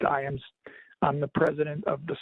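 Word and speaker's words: Ijams: So The last name is spelled I-J-A, M as in Mary, S as in Sam. It's pronounced Iams.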